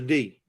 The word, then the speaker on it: D: Her name is D. Rhymes with tree, not woody.